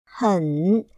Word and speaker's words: 很: 很，喝，很，很，三声很。